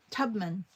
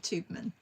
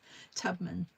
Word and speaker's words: Tubman: Tubman. Thank you, Lisa. Not Tubeman. Tubman. Hola. Okay, just hola. That's great. Yeah, Tubman.